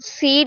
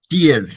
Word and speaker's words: sheer: Those who succeed because of sheer grit and determination. Seer.